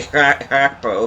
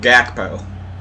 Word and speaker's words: Gakpo: to try to say Hakpo if I can. Yeah, it's Hakpo, not Gakpo. Because the G sounds like an ancient Dutch.